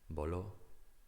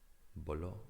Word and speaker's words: voló: Voló, voló, strong syllable, voló, voló, past tense of volar, to fly.